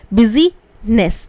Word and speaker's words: business: Busy रहता है, BUSI, बिजीनेस, NESS, तो BUSINESS. ये याद करने का तरीका है. बिजीनेस बोलते नहीं है, बिजनेस बोलते हैं.